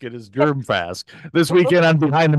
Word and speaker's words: Germfask: the show yeah no there's no hard G in germ fask it is germ fask this weekend I'm behind